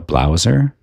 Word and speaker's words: blowser: A blowser, rhymes with closer.